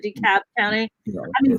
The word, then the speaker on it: DeKalb: cream as i said dekalb county yeah i mean the l is silent ellis island okay so decap county is like the h at the end of shake yes it's more like